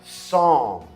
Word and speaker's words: psalm: Em inglês a gente fala song. Tem um P, mas a gente não pronuncia.